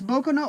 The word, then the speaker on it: Boku no: and gentlemen this is boca no overlord or i may have announced that wrong no i didn't pronounce that wrong it's boko no overlord so i did do that right this is a 30